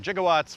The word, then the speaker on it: gigawatt: works in the movie 1.21 gigawatts which is actually gigawatts uh they just used a soft G back then plutonium uh the time